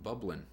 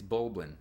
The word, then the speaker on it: Bulblin: Ilia from the King bubblin it's bulblin I kept saying it wrong it's bulin it bubblin